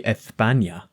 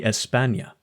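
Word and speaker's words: España: lisp only applies situationally they don't say ethania they say Espana and also the th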